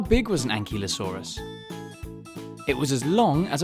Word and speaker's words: ankylosaurus: you say that again and ki lo saw RIS how big was an ankylosaurus it was as long